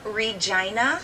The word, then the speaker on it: Regina: where where you from this F I'm from Regina Saskatchewan Canada and yes I said it right